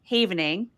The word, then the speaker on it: havening: And havening, as I mentioned, uh, as you mentioned actually in the in the bio, it's pronounced havening, right? Like a safe haven because it's a transitive verb of the word haven, a safe place.